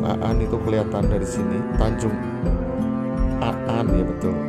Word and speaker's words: Tanjung Aan: Itu kelihatan dari sini Tanjung Aan. Ya, betul. Tanjung An. Tulisannya sih Tanjung Aan tapi bacanya Tanjung An.